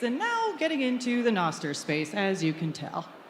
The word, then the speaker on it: Nostr: You may hear Carla pronounce it as Nostr and me as Nostr.